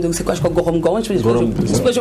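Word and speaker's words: Gorom-Gorom: de la zone de, c'est quoi, je crois, Gorom Gorom, je prononce bien, hein. Voilà, Gorom Gorom.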